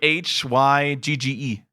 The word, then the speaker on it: Hygge: You spell Hygge? it HYGGE.